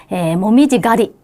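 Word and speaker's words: 紅葉狩り: 자, 정답은 모미지 가리 1번이었어요. 자, 그래서 카루라는 거는 원래 이제 사냥하다라는 동사인데 이렇게 앞에 명사가 와서 가리라고 읽히고 자연을 즐기러 간다거나 뭔가를 체험하러 간다거나 할 때 쓰는 단어예요.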